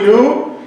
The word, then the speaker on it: knew: and since God already knew and so we have the sentence I knew and the k is a silent k right we don't hear it so we have only